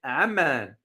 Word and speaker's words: Amman: Now, don't confuse Oman with Amman. If you notice my pronunciation, Oman is the country.